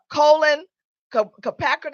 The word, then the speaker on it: Kaepernick: This is not about Colin Kaepernick. How do you say his last name? How do you pronounce his last name?